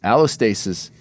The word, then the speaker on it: allostasis: Allostasis is like is like releasing the stress hormones so you can rise to the occasion.